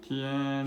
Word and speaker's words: 天: Tian.